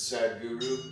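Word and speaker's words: Sadhguru: It's spelled Sad H Guru, but it's Sad Guru is what he's called.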